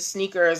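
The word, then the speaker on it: SNKRS: and the app is called sneakers but it's spelled s n k RS okay s NK RS so sneakers without any of the vowels and Nike has filed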